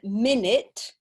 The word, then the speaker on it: minute: you pronunciation okay so we have one minute but if we use it as an adjective then we have minut so the stress is different and the pronunciation is different so that's another thing